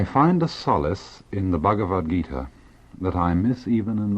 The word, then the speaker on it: Bhagavad Gita: In 1925, Mahatma Gandhi wrote the following words: I find a solace in the Bhagavad Gita that I miss even in the Sermon on the Mount.